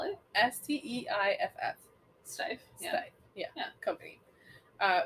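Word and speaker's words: Steiff: so the one-of-a-kind doll was made by the steve steif company how do you spell it s-t-e-i-f-f steif yeah yeah company uh which is actually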